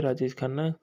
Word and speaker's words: राजेश खन्ना: आए थे राजेश खाना के के बारे में राजेश खन्ना राजेश खन्ना उच्चारण जिने जतिन खन्ना का के नाम से